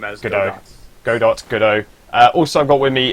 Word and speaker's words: Godot: pronounce the name as Godot.